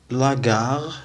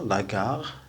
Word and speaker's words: la gare: إذا سيغار كا متبوعة بأ نقراوها كار. لو سيغار يعني يعني السيجارة. لاغار المحطة، لاغار.